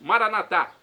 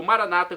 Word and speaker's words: Maranatá: E agora do aramaico eu clamo, aramaico dialeto de Jesus, Maranatá, como dizemos nós católicos, ou Maranata, como dizem nossos irmãos separados, os evangélicos ou protestantes. Não importa a pronúncia, o significado é o mesmo.